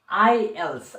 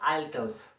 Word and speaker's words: IELTS: to explain about IELTS first of all pronounce it correctly I else i e l t s IELTS right it's IELTS not Altos or something else because T you have to keep it silent and protect tests for